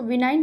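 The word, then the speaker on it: benign: 20 और last question हमारा, इसको क्या बोलेंगे हम, इसका प्रोनाउंसिएशन हो जाएगा हमारा वनाइन पढ़ेंगे, इसको विनाइन नहीं पढ़ेंगे, वनाइन होगा इसका प्रोनाउंसिएशन।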